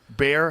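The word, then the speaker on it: Baier: Well, there's also like the way Brett Breyer interviewed Bear.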